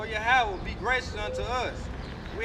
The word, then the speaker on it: Yahweh: So the right pronunciation for Jehovah is Yahweh, man.